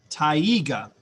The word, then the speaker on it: taiga: Taiga, that's how you pronounce this word.